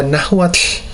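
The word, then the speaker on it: Nahuatl: L at the end I struggled a little bit with the T and L but because we have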